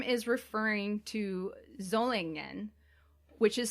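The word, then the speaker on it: Solingen: name is referring to zolangn which is spelled s o l i n g e n but is pronounced with both a z in german and in japanese okay which is a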